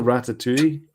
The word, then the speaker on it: Ratatouille: Every poster you see for Ratatouille is phonetically spells out rat-a-2-e. And because it says Ratatouille at the top in French, but it's got rat-a-2-e at the bottom there, so you could pronounce it.